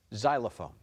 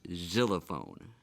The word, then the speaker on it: xylophone: African musical instruments are variations of the xylophone xylophone can I please have the language of origin